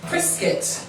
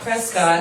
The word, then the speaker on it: Prescott: going to be impressed priscuit which we just found out it's not Prescott it looks like they pronounce it like a biscuit biscuit which is good to